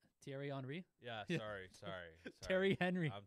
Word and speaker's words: Thierry Henry: You know Terry Henry? Thierry Henry?